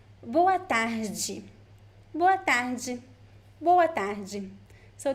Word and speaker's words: boa tarde: So the G in boa tarde is also a variation of accent. You could also say boa tarde or boa tarde, depending on the place. But the most common one is boa tarde.